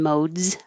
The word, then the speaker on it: modes: up the question of it looks like an s in modes but it sounds like a z so remember the last sound in the word not the silent e is mode is a d it's voiced so if your voice if your last sound is voiced then it will look like an s but your voice stays on mode z and